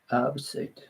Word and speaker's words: herbicide: in due course antibiotic, antibiotic, herbicide, herbicide, H を発音しないのか。herbicide, herbicide, herbicide resistant weeds.